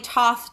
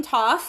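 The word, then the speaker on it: Thoth: kind of controversial and the pronunciation of the deck is kind of controversial it's named after the Egyptian god Tov some people call them both I prefer to call him toss until I'm educated that and by someone who knows what they're saying that is pronounced differently I stopped reading for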